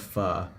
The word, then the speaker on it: pho: We walked through that, and I got the best thing of pho.